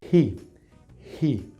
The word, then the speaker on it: he: sonido que nosotros conocemos como el sonido de la jota verdad y decimos sí pero ese sonido de hecho en inglés no existe si el sonido para la h con el que vamos a pronunciar esta palabra ji ji porque esto significa el